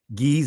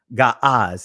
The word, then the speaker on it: Ge'ez: Ge'ez is not a proper pronunciation of the ancient language because they did not have E sounds. They did not have A sounds. They did not have U sounds. All they had was the Ah sound. And ancient Ga'az is the proper pronunciation.